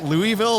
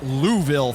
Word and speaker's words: Louisville: some locals like it's Louisville. Thanks. It's like yeah well when you can pronounce Saskatchewan come find me. The E is silent. It's a silent E.